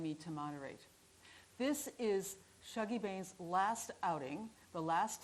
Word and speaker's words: Shuggie: a conversation with douglas stewart the author of shogi i've said it wrong and many thanks to the greenwich library for inviting me to moderate this is shaggy bane's last outing the last time the author